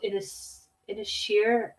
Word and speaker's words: Inisheer: So anyway, the next tune I'm going to do is an Irish traditional tune called Inisheer, I think it's pronounced. It's spelled like Innis War, but it's just a really beautiful Irish tune, and I thought I would play it.